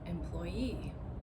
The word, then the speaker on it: employee: What if I add the suffix e and I say employee employee see and you heard that I put the stress on the last syllable on the suffix.